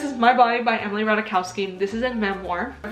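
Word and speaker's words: Ratajkowski: how I pronounced it Jaden taught me how to pronounce her last name Emily rowski and I can't believe that I pronounced it R jsky that's embarrassing anyways this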